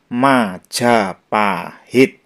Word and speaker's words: Majapahit: aksara Jawa kuno seperti ini tulisan ini dibaca Ma jaapahit kemudian yang seperti saya bahas di depan tadi